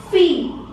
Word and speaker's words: fille: Now in French, this combination E-L-L together produces the sound E, like the E alphabet in English. So it becomes fille.